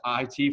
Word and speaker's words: it: pronounce it it because this i and this t are two like distinct concepts the i is for